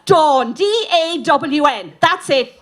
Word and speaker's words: Dawn: that again my name is Sean it's not John it's not dawn it's dawn da WN that's it dawn end off okay yeah it's just after that